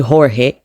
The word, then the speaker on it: Jorge: Ndikuti Jorge mene amalembera, mene amachitira pronounce, koma spelling yake imakhala ndi J yo amamuti ho, amankangata kumuchula ngati H, anthu aku Spain.